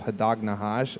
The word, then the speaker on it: Hadag Nahash: One of his favorite bands, who he introduced me to, and I love, is Hadag Nahash. Am I saying it right? Yeah, they said it right, yeah.